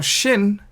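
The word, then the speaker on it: שׁ: Now Shin is like sharp, sh sound, sharp. Or it could be sounded like S sound, set, similar to Samek.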